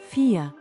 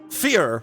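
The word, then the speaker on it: vier: It's pronounced like an F. Fear. Is that You know what? it. I'm just going to look it up. Uh, four in German. Fear. Fear.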